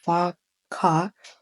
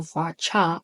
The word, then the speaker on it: VARCHAR: Okay, now the second column name is going to be first name, which is Varka or Varcha. I don't know how you pronounce it. I pronounce it as Varka.